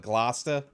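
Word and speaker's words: Gloucester: called Glasta even though I didn't know how to say it for a while because it was like Glauscester or something is how it was spelled but I figured out the locals call it Glasta and it's like the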